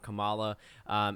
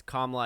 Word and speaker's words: Kamala: so i've heard a number of political pundits mispronounce her name it's not kamala it's kamala i guess the second a is silent i